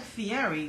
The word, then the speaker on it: Fieri: says that love Guy Fieri is it Fieri it looks like Fieri but he pronounces it Fieri I think he's trying to be Italian unappreciated Echo how much